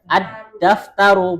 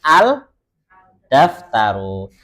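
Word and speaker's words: الدفتر: Contohnya ini, kita bacanya bagaimana? Ad-daftaru, bukan dengan al-daftaru.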